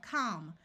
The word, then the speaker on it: calm: this column I have words ending in a l m the a will have its broad sound of a and the L will be silent here we have calm we can add a